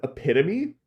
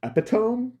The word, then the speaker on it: epitome: up very smart guy thought that the word epitome was pronounced epiome and I was like it's not but that means